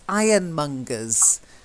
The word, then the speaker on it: ironmonger: Okay, first one is ironmongers. Okay, so not ja, it's monger, g, hard g sound.